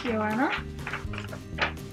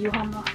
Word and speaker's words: Joanna: My name is Joanna. Well, not very hard to spell, but I still have a sign for it. But in Sweden we say Johanna, so you can choose yourself how to say it.